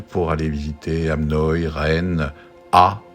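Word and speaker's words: Å: Alors on est allé vers le sud pour aller visiter Hamnøy, Rennes, A ou O comme on prononce, un village, une lettre.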